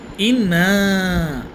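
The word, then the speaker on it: إنا: ইন্না, নুনের উপরে খাড়া জবর, তার উপরে আবার মদ রয়েছে, এটাকে আপনাকে টানতে হবে, যথেষ্ট পরিমাণ টানতে হবে এটাকে।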